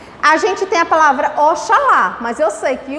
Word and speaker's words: Oxalá: Em que o X ainda faz o som de CH. Preste atenção. A gente tem a palavra Oxalá, mas eu sei que